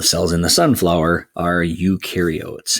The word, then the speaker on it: eukaryote: in the sunflower are eukaryotes. And eu rhymes with do.